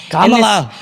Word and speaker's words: Kamala: Camala Harris won. Kamala, you have to know the pronunciation of my name.